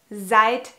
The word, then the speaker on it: seid: And here we have to pay attention that we spell seid correctly. Because maybe you have noticed, but seid sounds like it's spelled with a T at the end. But it is a D.